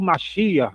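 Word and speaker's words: מָשִׁיחַ: Aí inverte a pronúncia, em vez de ser Sameha, vai ser Samear, igual Mashiach, né?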